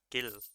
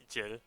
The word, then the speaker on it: Gil: to a thousand chill Gill I I always want to say Jill but it has to be a hard G like in gold like just from no